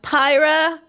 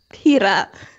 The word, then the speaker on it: Pyra: And then there was, oh god, Pyra. I'm saying it wrong every time, and I know it. Pira.